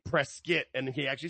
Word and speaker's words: Prescott: And shout out to Vic Joseph cuz when they were up in and it's spelled Prescott, but it's pronounced because it's someone's last name, Prescuit.